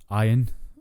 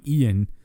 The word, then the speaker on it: Ian: although pissed me off how they pronounced his name yeah ion it's clearly spelled Ian but they're going with ion pissed me off right